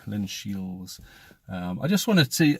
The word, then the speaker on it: Linshiels: along to Linshiels, and that's Linshiels without a D, Linshiels.